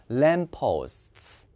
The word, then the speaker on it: lamppost: 그러니까 가로등은 발음이 램프 아닙니다. P 두 개일 때는 똑같은 소리는 하나 탈락. 램, 그 다음에 뒤에가 이중모음. 램포스트.